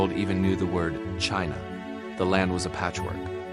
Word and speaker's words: Qin: The name of his dynasty Chin is pronounced like Chin.